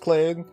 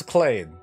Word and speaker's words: Kelade: This week's featured YouTuber is Kelade, but you wouldn't have thought it's pronounced Clade by reading it. But it's Kelade.